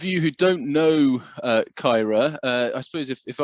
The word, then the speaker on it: Caerau: of you of you who don't know uh kyra uh i suppose if i was in west wales i should be calling it kaidai but um we're in southwestern cardiff um and